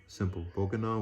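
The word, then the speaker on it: Bokonon: Bokanon was a pronunciation given the name Johnson in the island's English dialect.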